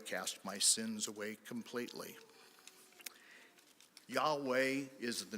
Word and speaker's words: Yahweh: And you may ask yourself, how do you pronounce that word without any vowels? It's very, very easy. You inhale yah, exhale way.